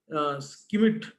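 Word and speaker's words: Schmidt: Again, what we pronounce it as Skimit versus Secretary of State for Home Affairs.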